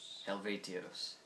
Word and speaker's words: Helvetios: I really like their last album, which was how you pronounce the name of their last album? Helvetios.